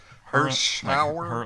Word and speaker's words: Hirschauer: Hirschauer. Like her in the shower. Her in the shower. That's it, Jeff.